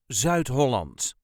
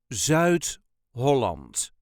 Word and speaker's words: Zuid-Holland: way us duchies say Z Holland Z Holland there is a very slight emphasis on the first syllable of the second word Z Holland zout holand